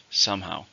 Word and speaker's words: somehow: and it's an adverb how many syllables are in somehow to stress in the first somehow the paper was due